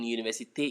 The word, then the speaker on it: université: You can see that the E in université is pronounced because that E has an accent.